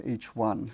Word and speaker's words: HI: the Roman number one and it's pronounced as H1 so when one says